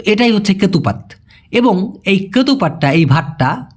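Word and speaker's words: ketupat: সাধারণত খাওয়া হয় প্রথমেই ভাই এটা হলো কেতুপাত উচ্চারণটা কি হবে কেতুপাত এটার ভিতরে এক ধরনের আঠালো চাউল আঠালো তো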